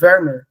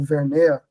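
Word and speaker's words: Vermeer: Tem um, essa coisa da luz me lembrou muito o pintor do século XVI do Holandê, não, 17, o Wermer, né, ou Vermea, depende de como vocês pronunciam.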